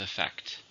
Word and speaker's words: effect: a noun countable noun how many syllables do you hear with effect two stresses in the second effect her speech had